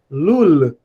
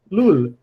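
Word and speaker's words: לול: O som do Lamed, e como qualquer outra consoante no final, ele é bem pronunciado. Então, tem consoante no final, pronuncia bem, né? Não engole a consoante. Lul, lul.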